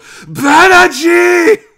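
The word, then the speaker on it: Banagher: the main character's name i am going to say it like read a show he does at the end of episode six and seven and just go banaji okay so kidding i'm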